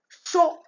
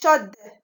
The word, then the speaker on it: chaud: Si je veux la transformer en féminin, on dit chaude. Donc, chaude. Où est ici la lettre muette? C'est D.